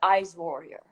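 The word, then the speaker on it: Aishwarya: So she's an ice warrior. Okay, ice warrior. It's not really hard to pronounce Ashwarya.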